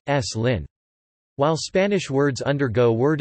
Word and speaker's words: Slim: The epenthetic, e, is pronounced even when it is not reflected in spelling, e.g. the surname of Carlos Slim is pronounced, s. Lin.